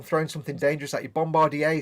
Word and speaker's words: Bombardier: now so yeah uh peterburg says in canada it's pronounced bombardier which makes sense because it it's a french word oh yeah yeah it's